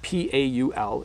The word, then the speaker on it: Paul: So P-A-U-L is Paul, Paul. And then power, I'm really accentuating the syllables.